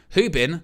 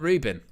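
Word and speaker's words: Rúben: United Love says, I spout it that way so you pronounce his name properly, Owen. Hubin, not Rubin.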